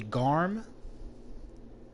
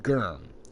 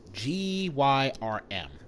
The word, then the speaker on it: Gyrm: Gavlan is a Garm. I mean, how do you pronounce the name? Gavlan is a Gyrm. Gyrm.